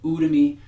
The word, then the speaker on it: Udemy: talkie and you and you to me or some people might pronounce it ooh to me so you to me